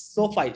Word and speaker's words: SoFi: Is it like SoFi Tech? Yeah, that is what I used. I learned after a lot of practice. It's SoFi, social financing. Okay, social financing.